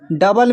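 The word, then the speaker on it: double: फिर है डबल, डबल में भी ओ साइलेंट है।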